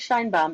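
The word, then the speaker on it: Sheinbaum: or you pronounce it Shine bam or Shin shine Shin bam uh my understanding is shine bam everything I've heard is said shine bam yeah shine bam I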